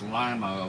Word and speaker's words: Lima: for the gym said you have to pronounce it correctly it's Lima Ohio not Lima oh my fault that's